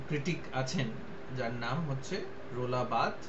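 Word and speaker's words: Roland Barthes: পারি যে একজন ক্রিটিক আছেন যার নাম হচ্ছে রোলাবাদ উচ্চারণটা রোলা বাদ ঠিক আছে ঠিক আছে বাংলায় তোমরা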